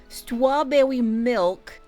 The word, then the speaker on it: Stwawbwewymilk: So, for some quick context, the person in question within the title, Stwawbwewymilk, yes, that is how they created and pronounced their username, who also went by many